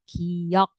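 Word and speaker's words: 기역: Nah, kiok ini biasanya ketika dia di depan lafalnya itu lebih ke K. Jadi dia tuh bisa K bisa G. antara K dan G sebenarnya gitu ya.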